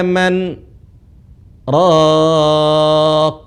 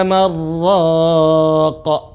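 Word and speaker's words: مَنْ رَاقٍ: Seharusnya kalau mengikuti kaedah tajwid dibaca waqila marraqa. Karena ada nun bertemu dengan ra, nun lebur. Waqila marraqa. Tapi di sini tidak lebur. Pengecualian. Cara bacanya waqila man raqa.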